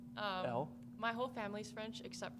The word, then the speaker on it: Elle: I say Elle. Elle?